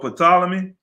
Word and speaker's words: Ptolemy: sacred and divine scriptures of the hebrew for ptolemy philadelphus that's right you said it right ptolemy